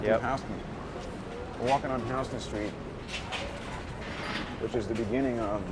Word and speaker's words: Houston Street: But it starts here at Houston Street. And by the way, it's pronounced Houston Street, not Houston Street.